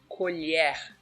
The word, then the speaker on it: colher: So, the second sound is the LH, which is pronounced like yeah. Take for example the word colher.